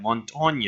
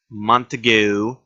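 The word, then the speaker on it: Montagne: stress it out constantly that Montaigne is how you say it not Montague Mon tanguay not who shall eat the hot dog and whatever you have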